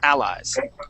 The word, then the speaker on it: allies: word allies okay so we're gonna stick the accent at the beginning okay allies allies okay so uh